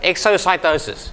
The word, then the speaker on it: exocytosis: That's that word, exocytosis.